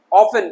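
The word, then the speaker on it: often: यहां देखेंगे क्रिस्टमस नहीं है, टी साइलेंट हो गया तो क्रिसमस। इस तरीके से सॉफ्टन मुलायम। ऑफन प्रायः या हमेशा।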